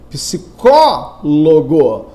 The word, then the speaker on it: psicólogo: Psicólogo, cuja sílaba tônica é o có.